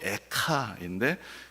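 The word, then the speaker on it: איכה: 그 어찌하여라는 말이 히브리어로 에카인데 그것을 이제 우리나라 말로 번역을 할 때 애가라고 그렇게 번역을 한 것입니다.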